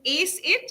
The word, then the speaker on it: ACIT: So let's start with tell us what problem you're solving with ACIT. Am I pronouncing it correctly?